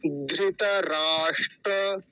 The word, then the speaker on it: धृतराष्ट्र: ित नहीं ित राष्ट्र ये जो मूर्धन्य सकार होता है इसको मूर्धन्य सकार बोलते हैं यह वाला मूर्धा से बोला जाता है जहां से ट बोलते हैं ठ ड ढ य ट वर्ग जहा से पूरा बोला जाता है वही से श बोला जाता है तो कैसे बोलेंगे धृतराष्ट्र धृतराष्ट्र ऐसे बोलेंगे और अगला शब्द क्या